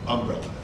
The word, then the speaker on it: umbrella: He always put the accent on the beginning of the word umbrella.